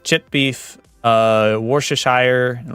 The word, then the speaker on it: Worcestershire: Worcestershire? Worcestershire. Sauerkraut. Thank you. Worcestershire. Worcestershire. I think my favorite, like, intentional mispronunciation, though, it's gotta be wash your sister sauce.